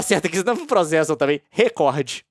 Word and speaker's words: recorde: uso sistemático da pronúncia record crime, mas não retornou o contato. Tem jeito de certo de falar. Recorde é de fato uma palavra paroxítona, conforme lá a a norma culta.